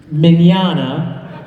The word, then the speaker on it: Mignogna: hair like what's that my name is vic Mignogna manana my mom still can't pronounce that name right a lot of people don't get it right but it's Italian so there's cheese in the middle there you know you just exactly like lasagna but oh yeah mid